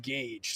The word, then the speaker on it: Gage: It's Gage. There we go. I had to check the proper pronunciation before the chat starts to fry me from the way I pronounced it. It is pronounced Gage.